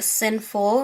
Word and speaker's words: Sinful: It's called Sinful right here, and it's spelled like C-I-N-N, like cinnamon, but sinful.